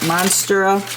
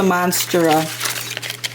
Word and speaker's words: Monstera: Monstera. It's a Monstera.